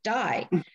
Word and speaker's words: Dye: the bus driver okay that's how they pronounce his name die they and i were